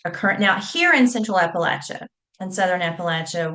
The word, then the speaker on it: Appalachia: Now, here in Central Appalachia and Southern Appalachia, we say Appalachia with a short A.